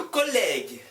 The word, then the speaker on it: collègue: Le collègue, le collègue, le collègue, le collègue. U 없었으면 le collège, le collège. Le collège는 중학교라는 말이에요. 그럼 U 있으니까 J 발음 안 하고 G 발음.